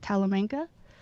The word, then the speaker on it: Talamanca: small farm in how do you say that talamanca mountains with his wife rosemary is that right